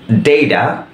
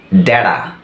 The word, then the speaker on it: data: American উচ্চারণে আমরা পাচ্ছি ডেইডা এবং ড্যাডা, ডেইডা, ড্যাডা।